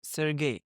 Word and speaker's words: Sergei: Hi, Sergei, right? Yeah, right. Is the right pronunciation.